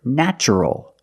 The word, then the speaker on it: natural: and the other word natural we see t plus a vowel an a also in this pattern the t is pronounced with the CH sound so the word is natural but first let's focus